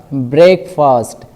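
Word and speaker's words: break fast: है abode फास्ट या ब्रेकफास्ट ब्रेकफास्ट यह वर्ड आपको तोड़ के बोलना है कैसे ब्रेक फास्ट मतलब रोजा खोलना या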